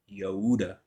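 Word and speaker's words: Yehudah: the tribe of Judah but the lion of the tribe of Yuda that's how it would be pronounced okay or yahuda it's Yuda because it's you know prefixed okay the king will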